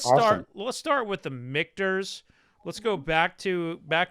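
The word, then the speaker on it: Michter's: stuff but let's start let's start with the mikters let's go back to back to the drawing board here right a little bit i pronounced it wrong i said ministers uh you know misters mrs it doesn't matter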